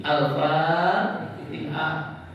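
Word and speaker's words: الفاتحة: Al-Fatihah hanya salah. Orang mengucapkan itu kita sama-sama buka dengan ucapan Al-Fatihah. Benar nggak? Di mana salahnya? Iya, harusnya ti. Al-Fatihah. Nggak ada TH.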